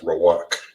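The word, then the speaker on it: רוח: Now, for spirit in the Hebrew, it is pronounced as wawak. It is pronounced as rawak.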